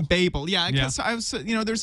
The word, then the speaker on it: Babel: And this book will actually be called The Babel. Babel. Babel. Yeah. Because I was, there's another book. Similar title. This just has a long A in it.